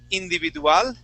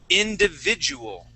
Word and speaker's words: individual: in English all right so instead of saying individual okay we want to say individual individual individual individual individual okay give give me short eyes not not Spanish Eyes but short eyes instead